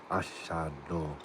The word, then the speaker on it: Ashhadu: Cause you spelled it perfect. Ashado. And that's exactly how you pronounce it.